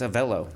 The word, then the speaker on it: Avelo: Avelo. Hello. It rhymes with hello.